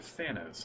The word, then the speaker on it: Thanos: Is it Thanos or Thanos?